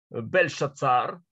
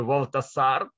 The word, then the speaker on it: Бельшацар: Последний из правителей Вавилонского царства Бельшацар, или в греческом варианте произношения Валтасар, и пир, который происходит